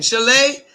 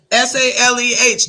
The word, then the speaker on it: Saleh: Saleh, Saleh.